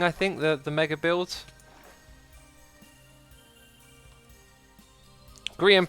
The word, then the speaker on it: Grian: Grian pronounced Brian, but with...